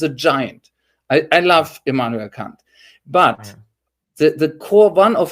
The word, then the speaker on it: Kant: Kant, Immanuel Kant, and yes, he's really pronounced like that for our American listeners, because